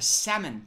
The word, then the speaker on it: salmon: A salmon color. Salmon. How do you I don't know how to pronounce... There's an L there. Salmon. Salmon. Salmon. That L is a fucking misdirect.